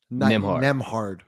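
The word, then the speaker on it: Nembhard: Nemhard.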